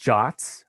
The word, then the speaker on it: JWT: of the presentation so json web tokens are pronounced jots uh don't be i